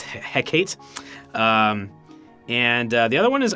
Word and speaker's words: Hecate: Because I think before I was saying Hecate, like Tecate, but it's Hecate.